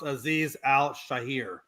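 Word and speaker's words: Azeez Al-Shaair: Hey, by the way, the name of that guy is actually pronounced Aziz Al Shahir.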